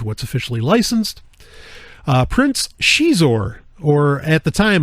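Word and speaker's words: Xizor: officially licensed uh Prince Shor or at the time I actually I called him zizzer because you know I didn't know really how to pronounce it um but then the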